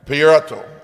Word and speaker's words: Pierotto: I want to make sure I say it right, right? Pierotto. Pierotto. Pierotto. Did I say it right, Cara? You did.